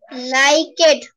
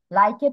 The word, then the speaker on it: liked: Wanted চেয়েছিল move সরানো লাইকেড পছন্দনীয় ভেরি মাচ অনেক মুভ সরানো thank you miss okay, thank you Fatema. লাইকের প্রোনাউন্সিয়েশন হবে না, হবে লাইকড।